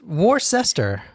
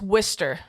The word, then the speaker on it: Worcester: it's not where they make Wier SAU w war sester it's Worster w i s t e r that's how you pronounce it wer no not with an i